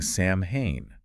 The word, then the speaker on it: Samhain: But the true origins of Halloween lie much further back in time with the ancient Celtic festival of Samhain, Samhain. pronounced Samhain, So celebrated from sunset on October 31st to sunset on November 1st.